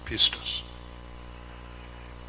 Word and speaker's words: pistis: It's a word in the Greek called, believe is the right way to pronounce it, pistis.